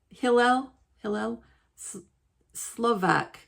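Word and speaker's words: Hillel Slovak: And his name is, I don't know how to say it, H-I-L-L-E-L, Hillel, Slovak, S-L-O-V-A-K.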